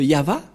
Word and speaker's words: Yahvah: est écrit ici yava et son nom c'est yava son nom et vous voyez que même les